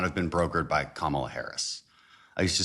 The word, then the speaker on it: Kamala: a deal could not have been brokered by Kamala Harris. I used to say Camala and then I'd get you know people would say you can't said her name wrong.